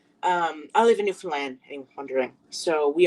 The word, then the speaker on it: Newfoundland: not entirely sure how we got our name, Newfoundland. Uh which is Newfoundland, not New Found Land, not New I I